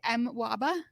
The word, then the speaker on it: MWABA: we're going to call what how were we pronouncing it earlier I say mwaba that's what we're going to call it from